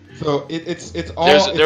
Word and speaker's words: ye: like a why that it's not ye olde pub it's the old pub if you pronounce it it's a letter that represents the th combination i trust me i know a number of linguist it represents the th it represents a th sound and that's where the